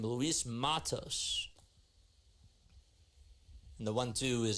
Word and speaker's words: Matos: off so MOS is up to bat or Matos that's how you say his name Luis Matos and the one two is outside for ball